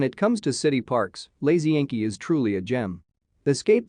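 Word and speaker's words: Łazienki: choice for families and couples on the weekend pronounced wagen ki this beautiful park includes manicures gardens an ornamental lake wooded glades and strutting peacocks when it comes to city parks lazy inky is truly a gem escape the stress of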